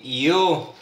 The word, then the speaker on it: iyo: Yun pagbasa mo ng iy o. Iyu or iyo. Ang tamang ang tamang bigkas doon ay io.